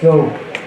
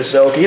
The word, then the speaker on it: Soak: Number 16, Ben Soak. The scorer's booth still has not changed the pronunciation to Soki, like we now know, thanks to our lovely viewers.